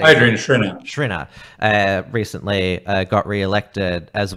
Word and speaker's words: Schrinner: Adrian Schrinner.